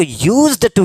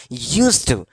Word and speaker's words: used to: एक चीज बता दूं कि कितने लोग यूज्ड टू कहते हैं ना ये नहीं आपको हल्का प्रोनाउंस करना है यूज टू right यूज्ड टू ठीक है हल्का सो आइए अब सेंटेंस